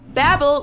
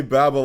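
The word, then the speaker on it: Babbel: do in germany is the language app babble which is holy i do pronounce that wrong i say babel all the time like yeah i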